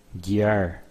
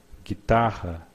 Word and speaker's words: guitarra: Guitarra, guitarra. It means guitar. Guitarra. As you can see, we do not pronounce the U. You just say gui, gui, guitarra. But in some cases, we pronounce the U.